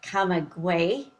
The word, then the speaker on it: Camagüey: And it's in English, you would pronounce it Camagüey. So when you see it on a map, it has a G in the middle.